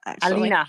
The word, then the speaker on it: Alena: you're so funny so um you know um alaina did am i pronouncing your first name correctly i think i it's selena alina oh that's okay no no actually i was